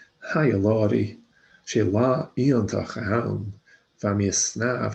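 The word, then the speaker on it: iongantach: So new words in bold, we had iontach. So the G in NG is very often silent in Gaelic, so iontach, iontach. So this NG is silent, iontach, iontach, wonderful.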